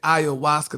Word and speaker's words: ayahuasca: Oh, honey, that's how you say ayahuasca.